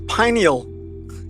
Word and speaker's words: pineal: It's pineal. It's pineal because it's shaped like a pine cone.